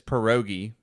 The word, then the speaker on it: pierogi: Mark Norman was, and he pronounced it frozen. I think pirog. Normally, everybody says pierogi if they don't know how to say it. I've never heard pirog.